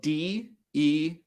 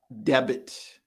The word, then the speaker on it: debt: pronounce it debt not debit right so in this case the b very good viviana the b is silent we say debt so we do pronounce